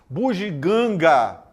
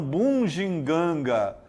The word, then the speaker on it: bugiganga: Bugiganga, bugiganga, não bunginganga.